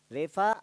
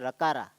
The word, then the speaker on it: Refa: Okay, generally we should not pronounce it as a Rakara. Okay, it should not be pronounced as Rakara, even though some of you might be doing. It's Refa, it is called.